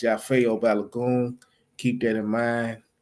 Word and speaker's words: Yafeuh: Again, it's pronounced Yafo. Again, it's pronounced Yafo Balon.